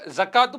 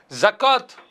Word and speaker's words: ஜகாத்: ஜகாத் என்று சொல்றோம் இல்லையா தமிழிலே இதை சரியான உச்சரிப்பு எப்படி சொல்லலாம் என்று கேட்டால் ஜகாத் என்று சொல்ல முடியாது ஜகா என்றுதான் சொல்ல வேண்டும் மொழி வழக்குல ஜகாத் என்று மாறிவிட்டது ஏனென்றால் அரபி வழக்கப்படி அந்த